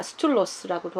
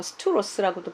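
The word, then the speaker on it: στῦλος: 그 기둥이라는 스투로스라는 단어가 스툴로스라고도 하고 스투로스라고도 발음하는데 히스테미에서 온 단어예요.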